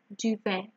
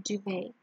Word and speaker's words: duvet: Mare, nightmare, recurring dream, oversleep, duvet. The T here is silent, like ballet, okay, duvet.